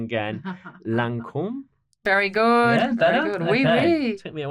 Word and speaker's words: Lancôme: and I'm going to say it wrong again, Lancome.